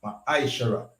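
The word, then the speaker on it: מעשר: Means tenth in the Hebrew and is pronounced ma'aishara.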